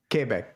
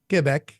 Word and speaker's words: Quebec: So, when I was in Quebec, notice how I said that. I said it right. Quebec. Right? Quebec. Right? Yeah.